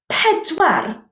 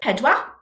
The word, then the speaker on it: pedwar: Now then, yn Gymraeg, if possible, sound the final r. In English, we drive a car. In Gymraeg, we drive a car. Same word, different pronunciation. So, 4 isn't pedwar, it's pedwar.